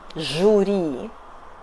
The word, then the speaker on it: жюри: We don't pronunciate in russian, no. . Жюри .